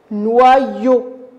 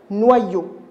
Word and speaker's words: noyau: On va couper le premier en I, le deuxième en I. Alors, noix, N-O. Et le premier I, ça va donner noix. Et le deuxième, ça va donner yo. Noyau.